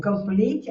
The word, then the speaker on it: complete: O stress tá na segunda, então você faz tá? Então o complete a mesma coisa.